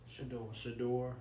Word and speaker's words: Shedeur: So it's, how do you pronounce it? Shedeur Sanders, and then you got Shiloh Sanders.